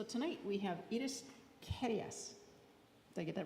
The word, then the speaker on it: Carias: So, tonight we have It is Keras.